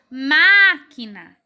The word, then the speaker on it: máquina: primeiro segundo ou terceiro máquina é a primeira sílaba é a mais forte consegue notar ó máquina máquina a primeira sílaba é a mais forte no caso é a antepenúltima o que é isso